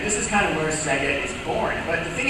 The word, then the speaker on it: Sega: So the Se part of Sega is from service, and the Ga part from games.